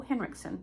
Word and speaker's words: Henriksen: Ollie harrickson or o'herrickson Eric Henriksen oh henrik's oh Henriksen I think is the way to pronounce it I have several other